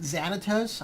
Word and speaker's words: Thanatos: So I think some people pronounce it Xanatos. I'm just pronouncing it Thanatos.